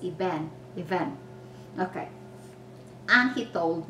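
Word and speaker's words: אבן: the hebrew word for stone and this is pronounced eben event okay and he told me he taught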